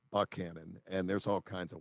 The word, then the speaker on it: Buchanan: Now, everywhere else I lived, Buchanan is pronounced Buchanan, but down in Southwest Virginia, it's pronounced Buckhannon.